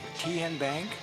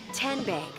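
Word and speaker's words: TNBank: How do you say What is Kyan Bank? No. Tin Bank? Uh-uh. So, what is it? Ten Bank. Ten, as in Tennessee, right here where all our banking decisions are made.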